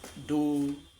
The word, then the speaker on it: do: So, and this is pronounced as do, this is re, this is mi, this is fa, so, then you have your la, ti, and then you can repeat the first one, which is do.